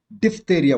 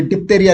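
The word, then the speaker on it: diphtheria: डिफ्थेरिया बोलते हैं। 119 का क्या बोलते हैं इसको? डिफ्थेरिया। तो डिफ्थेरिया कौन सा है? ये स्पेलिंग सही, डिफ्थेरिया, तेरिया। और ये डिप्थेरिया लिखा है, डिफ PH लिखना पड़ेगा, और ये तो डिपोतेरिया लिखा है।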